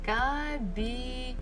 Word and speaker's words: кабинет: Okay, кабинет. Кабинет. So, in the office will be в кабинете. В кабинете. Кабинет. So still the stress falls on the last syllable. Нет.